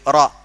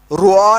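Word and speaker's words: raw: बस ऐसी है, आर ए डब्ल्यू, रॉ रॉ, रुआ नहीं बोलते उसको, है ना, रॉ, आसान हो गया।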